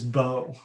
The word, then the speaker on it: Bo: So not only is Rupert missing, but again, no surprise, Kylan's missing, and so is Bo.